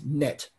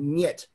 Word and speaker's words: нет: Нет is palatalized. There's a soft sign in there, which makes the n, nye. Without the soft sign, without the soft sign, it's net. So the palatalization in Russian, the thing that makes it sound Russian, the nye sound in nyet, it's the same palatalized N as in bonya.